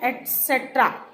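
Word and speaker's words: et cetera: तो एक वर्ड है ETC, ETC, इसे बोलते हैं एटसेट्रा, एटसेट्रा। ये मैंने इंग्लिश में भी लिखा हुआ है और इसकी प्रोनाउंसिएशन हिंदी में भी लिखी हुई है, ठीक है।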